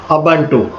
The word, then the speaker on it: Ubuntu: जो उबुंटू होता है उसे हम प्रोनाउंस करते हैं उबुंटू, और ये most popular desktop Linux operating system है।